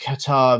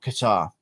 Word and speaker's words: Kattar: Kattar is pronounced Kattar, but not Qatar.